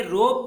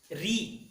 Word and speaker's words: ऋ: जैसे देखिए यहाँ पर उत्तर भारत के लोग या वहाँ के लोग जो हैं इसे री का उच्चारण करते हैं। हमारे दक्षिण भारत में संस्कृत का प्रभाव होने के कारण कन्नड़ के अंतर्गत इसे रू कहते हैं, लेकिन सही उच्चारण है री।